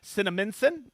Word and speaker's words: Cinnaminson: And yes, I know how to pronounce it now. Cinnaminson, New Jersey.